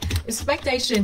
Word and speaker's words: expectation: Expectation nhấn âm tiết thứ ba.